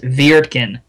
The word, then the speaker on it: Wirtgen: But hey, it is, at least to my knowledge and my pronunciation, it is Wirtgen with a V. It sounds kind of goofy, but that's how you say it.